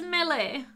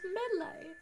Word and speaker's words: melee: time you get back what i say is millie millie millie milly but i pronounce everything wrong so you know i don't know that's just how i pronounce it as melee it's melee melee billy milly melee chop